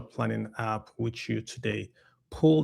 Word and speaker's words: Pul: Pool, that's spelled Pul.